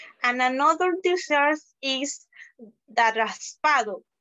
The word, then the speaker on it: raspado: And another dessert is the raspado. It's pronounced raspao.